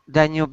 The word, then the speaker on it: Danube: Danube is a river across Europe.